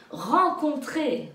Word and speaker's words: rencontrer: Maintenant, on va changer d'orthographe avec le AN qui s'écrit EN. Comme en France. En France. En France. Oui. Rencontrer.